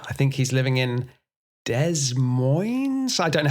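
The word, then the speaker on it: Des Moines: I think he's living in Dez Mo. I don't know how you pronounce that town. De Moines. De Mo. De Moines.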